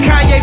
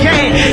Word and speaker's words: Kanye: It's Kanye, but some of my plaques they still say Kane.